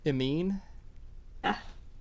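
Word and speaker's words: Emeine: we spill it for you you can just spell it if you want e-m-e-i-n-e it mean oh thank god i got it right that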